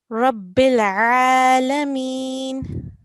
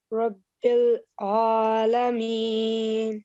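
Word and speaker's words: رب العالمين: Alhamdulillahi Rabbil Alameen. Yes, here again we have a ayn. Rabbil Alameen. Rabbil Alameen. Yes, so make sure that these harufi halki are pronounced from the throat, so they're slightly heavier and thicker.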